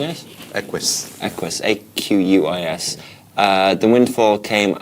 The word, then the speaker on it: Aquis: How are we pronouncing it? Aquis.